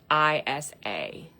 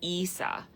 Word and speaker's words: Isa: And it's pronounced Isa, but it's spelled Isa, but it's Issa.